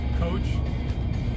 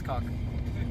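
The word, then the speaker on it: Koch: How do you think that truck name is pronounced? It's K-O-C-H. Coach. I think that's cock. That's definitely cock.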